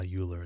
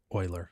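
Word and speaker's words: Euler: you know you could do uh uler as well Oiler sorry Oiler pronouncing it wrong um and then here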